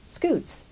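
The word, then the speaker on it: scutes: Interestingly, Jan took his name from scoots, pronounced the same way, which are the plates making up a turtle shell.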